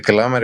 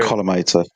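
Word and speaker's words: collimator: The kometer columator.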